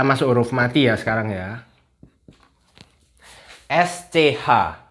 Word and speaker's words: sch: roofmart Iya sekarang ya sch sch bacanya Gimana Hayo kan sch cecak Masa Gitu Mungkin pacarnya